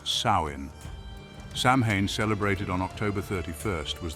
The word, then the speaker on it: Samhain: this transition was marked by a festival called samine pronounced sa samhan celebrated on October 31st was the most important